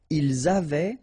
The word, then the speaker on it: avaient: Ils avaient, so look here, E-N-T, you write them, you don't pronounce them. So you get phonetically, avait, exactly the same thing that we had here, here, and here. Okay, so it's exactly the same thing that you will pronounce. but then here you make the liaison.